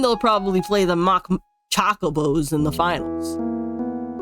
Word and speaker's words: chocobos: probably play the mock choco BOS in the finals your pronunciation is all wrong it's chocobos not choos Hough the season